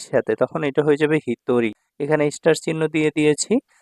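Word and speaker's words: 一人: আবার যখন এটা একের সাথে থাকবে ইচির সাথে তখন এটা হয়ে যাবে হিতরি। এখানে স্টার চিহ্ন দিয়ে দিয়েছি। মানে এটা একটু আলাদা উচ্চারণ হয়। ঠিক আছে? ইছিনিন বলা যাবে না বা ইছিজিন বলা যাবে না বা ইছিহিত বলা যাবে না।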